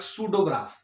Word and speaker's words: pseudograph: Hair P will be silent and it will be pronounced like सूडोग्राफ।